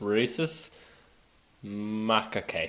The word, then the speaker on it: rhesus macaque: It's spelled RHESUS It's rhesus macaque. Sounds like racist macadamia.